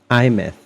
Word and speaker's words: Aemeath: IMth. That's how we pronounce the name.